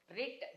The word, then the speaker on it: writ: the orders not writ writ W should be silent okay W doesn't mean